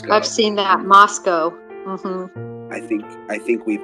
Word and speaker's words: Moscow: wrong a couple times I guess the locals pronounce it Moscow not Moscow um yes you're right I've seen that Moscow I think I think